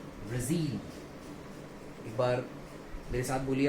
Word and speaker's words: Brazil: जैसे कि मैं देख सकते हैं ZIL पर ये अंडरलाइन है ZIL. तो इसको हमें स्ट्रेस देके बोलना होगा. इसका सही प्रोनाउंसिएशन हो जाएगा ब्राजील. एक बार मेरे साथ बोलिए आप लोग, क्या हो जाएगा? ब्राजील.